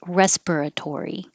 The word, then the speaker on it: respiratory: magnolia and this respiratory you might hear it without the uh and it might sound like respiratory but all of the syllables respiratory respiratory this one we